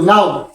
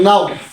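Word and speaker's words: know: হয় তাহলে কে এর উচ্চারণ হয় না কে সাইলেন্ট হয় যথা কে এন ও ডব্লিউ নাও কে এন ও ডব্লিউ নাও তাহলে আমরা এখানে কাউ নাও বললাম কে নাও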